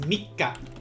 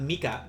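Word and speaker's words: 三日: fox is your credit is mikka mikka uh and for those of you guys saying this be careful it's not mika it's me remember that double consonant means that you need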